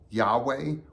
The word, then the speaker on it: Yahweh: When we see it in all caps, it's a reference to YHWH, which is often pronounced Yahweh or Jehovah.